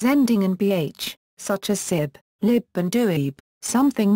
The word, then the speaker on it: sibh: in bh, such as sib, lib and duib, something not found in the rest of Connacht. These words would be pronounced respectively as shiv, live, and doffer in the other areas.